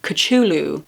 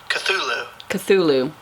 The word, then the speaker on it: Cthulhu: sure is entirely wrong he said that the first syllable pronounced gut early and very thickly the U is about like that in full and the first syllable is not unlike coal in sound hence the H represents the guttural thickness Cthulhu alright we're pronouncing